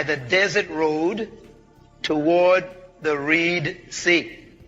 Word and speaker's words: Reed Sea: desert road toward the Reed sea you pronounce it red is actually Reed sea where read re group